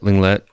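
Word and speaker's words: Lenglet: need somebody like langlais is it langley yeah linglet yeah yeah it's friendship so you don't pronounce the tea i thought so yeah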